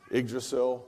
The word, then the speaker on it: Yggdrasil: Unfortunately, some that are no longer with us, soft landing systems, Yggdrasil, that's how you say it, by the way.